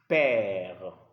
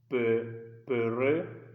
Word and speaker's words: père: So because of this sign on top of the letter E, the pronunciation changes to E. So don't say peureux or mereux, no. It's père, mère.